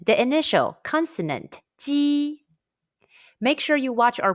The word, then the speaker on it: 鸡: Make sure that you are smiling when you say the Ji sound.